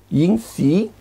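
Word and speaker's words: 阴郄: Se llama, se pronuncia Yin Xi. En chino, yin si, yin si, con X, si, yin si, yin si.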